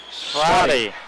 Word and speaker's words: Swati: As Swati. Pronounce that for me again. Swati. Okay, That's Swati. It's a W where the V is.